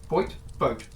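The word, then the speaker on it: Vogt: van vote vote okay someone corrected my pronunciation I've already forgotten it I think it's vote okay lovely lovely lovely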